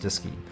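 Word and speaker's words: DSKY: using a numeric display and keyboard called a diski display and keyboard pronounced diski located on panel 2 and in the Leb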